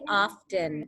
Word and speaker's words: often: would be an i if you don't pronounce the t and you just say often it would have a silent t right some people pronounce